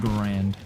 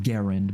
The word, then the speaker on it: Garand: kind of cool this is the M1 grand so is it the M1 grand or the Garand cuz I've always pronounced it Grand and I don't think anyone's